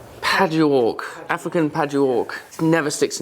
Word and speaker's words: Padauk: How do you pronounce it? Padauk. Padauk, African Padauk.